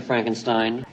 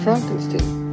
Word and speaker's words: Frankenstein: before we proceed I have one question Dr Frankenstein spider that's Frankenstein you're putting me on no it's pronounced Frankenstein you must be eigor now it's pronounced iore